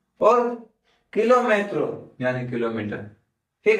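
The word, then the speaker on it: kilómetro: और किलोमेट्रो यानी किलोमीटर। ठीक है? तो वर्ड तो सेम ही है। प्रोनंसिएशन थोड़ी चेंज है। तो कर्मा को कार्मा। कराटे को कराटे और किलोमीटर को किलोमीट्रो किलोमीटो याद रखिएगा और हम इसी के साथ आगे बढ़ेंगे।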